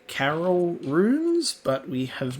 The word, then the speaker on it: Caryll: Caryll, we still haven't got that pronunciation right. Caryll sounds just like a white woman's name.